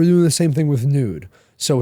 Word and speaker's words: Nuud: I know Nude, how do you spell it?